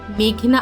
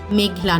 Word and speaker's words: মেঘনা: উচ্চারণ করার জন্য বলেন, আমার নাম মেঘনা আলম, মেঘলা নয়।